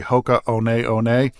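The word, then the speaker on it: Hoka One One: looks like hoka11 but the ones are pronounced one so it's really Hoka one that's a little fun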